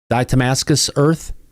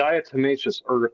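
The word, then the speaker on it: diatomaceous earth: They are covered with d how do you pronounce that Brian? Damascus earth. No, it's called a dietimmacous earth and a lot of people may be familiar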